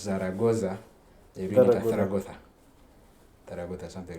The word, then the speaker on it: Zaragoza: because it's like in Spanish, the Z they pronounce it as so like what you would read as Zaragoza, they read it as Zaragoza, something like that.